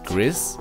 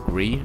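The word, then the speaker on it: Gris: Playing Grizz or Gree. It might be pronounced with a silent S.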